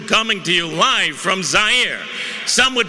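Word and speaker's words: Zaire: everyone Howard coel coming to you live from zier some would pronounce it zir they're wrong it got big laughs and then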